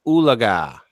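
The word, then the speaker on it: Oologah: lady Thunderbird more special and hula guy Lake oleg ah and thank you for pronouncing that correctly Lake Tenkiller yeah where it attacks and kills unsuspecting swimmers and of course one autumn mr.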